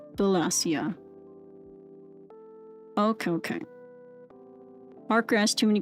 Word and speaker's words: Wallachia: Wallachia is pronounced Wallachia.